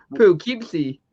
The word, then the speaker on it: Poughkeepsie: Poughkeepsie. One more time, Neil, just for fun. Where is this? Poughkeepsie? Poughkeepsie. He's from Poughkeepsie, New York. You can't be tough. Like No way. Poughkeepsie.